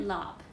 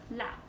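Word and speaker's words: larb: Maggot lob. So it's actually pronounced lap, like that. It's actually pronounced like lap.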